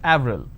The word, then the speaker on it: Avril: pronounced differently for example the name April it's it's a month right in French it's pronounced at Avril the name Clement is